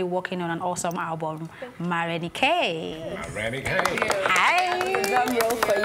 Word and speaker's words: Marenikae: is it pronounced Marenikae or Marenikae? Marenikae is my actual name. Marenikae is my stage name, like David and Marenikae. Davido. Okay, so right. Why? How? I mean, the pronunciation is different, right? Mm-hmm. Marenikae. Mm-hmm. So, what were you trying to achieve? Because living in Atlanta, people always want to call me More Nike.